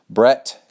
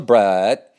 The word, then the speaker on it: Brett: I'm going to change how we spell this so people quit calling me brat and say it correctly. And he is Brett.